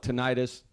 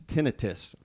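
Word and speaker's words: tinnitus: have uh such bad we call it tentis the military the doctor said it's tenius but I guess can pronounce it either way and so I got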